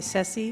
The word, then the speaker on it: Ceci: I go by Ceci, which rhymes with Jesse.